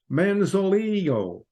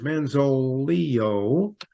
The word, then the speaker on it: Manzolillo: George Manzolillo, that double L is pronounced like a Y. George Manzolillo and his bride were surprised to learn that their marriage carried an unexpected price tag.